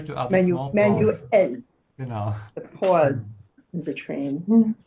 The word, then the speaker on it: manuell: Also, wir müssen es manuell. Wir müssen es manuell versuchen. We have to Yeah. try it manually. Remember to add a small pause. Manuell.